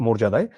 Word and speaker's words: মর্যাদা: এটার উচ্চারণ মর্যাদা। এটা কিভাবে বুঝবা জানো? যদি এই অন্তস্থ জয় এর উপর রেফ থাকে এবং আকার থাকে এর আগে যদি আকার ইকার ছাড়া কোন বর্ণ থেকে থাকে তখনই সেটা ও হিসেবে উচ্চারণ করা হয়।